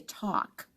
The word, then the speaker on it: talk: I don't say the L sound. I never have. I wonder if anyone actually does. I just say talk, like a short O or an AW sound, talk.